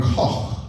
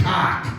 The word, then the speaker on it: Koch: And back home, people don't pronounce my name Koch like they should. Get a little bit of spit in there. They say cock because they're pigs.